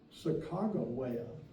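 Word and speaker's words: Sakakawea: country it's sacka jaia if I'm in North Dakota Chicago way and it is actually spelled in the journals with G's but when Lewis dies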